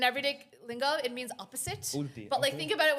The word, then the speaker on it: ulti: He said it's called ulti. Ulti. U-L-T-I. Ulti literally means Ulti. opposite. Ulti. In everyday lingo, it means opposite. Ulti, But okay.